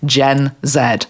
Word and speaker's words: Gen Z: tribe and she said you can pronounce it either way Mom I call us gen Zed so I'm going to